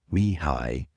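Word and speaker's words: Mihály: Mihaly. I know it's counterintuitive, but yeah, it's Hungarian. Mihaly Csikszentmihalyi.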